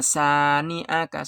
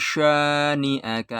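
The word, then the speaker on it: شَانِئَكَ: Gak boleh dibaca inna sani'aka, salah. Harus inna syani'aka ya, sya ya, shin besar.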